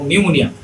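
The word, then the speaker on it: pneumonia: তারপরের স্লাইডে আমরা দেখেছি পি এবং এস যদি একসাথে থাকে আর যদি এই পি এর পূর্বে কোনো ভাওয়েল না থাকে, পি এর আগে যদি কোনো ভাওয়েল সাউন্ড না থাকে তাহলে পি এর উচ্চারণটা সাইলেন্ট হয়ে যায়।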